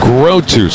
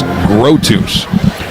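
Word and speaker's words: Grothues: Grotus. It's spelled G R O T H U E S. Grotus.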